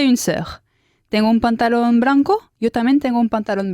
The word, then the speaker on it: blanc: Tengo un pantalón blanco. Yo también tengo un pantalón blanco. ¿Cómo se dice blanco? Blanc. Blanc. Blanc. Se escribe blanc, pero la C no suena.